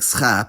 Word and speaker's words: schaap: But about ch, I should also clarify that if you put s before it, giving you sch, it's not pronounced sh. That's German. It's pronounced as a cluster, sch in onset position like schap, and just s in coda position like Czechisch.